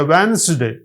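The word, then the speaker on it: Wednesday: ल दिखने में है वेडनेसडे पढ़ेंगे वेनसडे जब वेनसडे पढ़ेंगे तो डी साइलेंट है जब आप बजट कहेंगे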